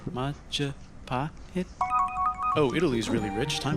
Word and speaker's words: Majapahit: It's the Mahajapit, Majapahit, Mapajahit, Mahapajit. You're pronouncing it wrong. Majapahit?